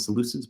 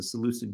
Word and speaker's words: Seleucid: Judeans against their Seleucid, I don't call them the Seleucids, but I think it's actually supposed to be pronounced Seleucid. They're Seleucid overlords, right?